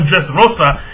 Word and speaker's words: Dressrosa: Alright, say it like a Spanish, Rosa. So, he's on Dressrosa.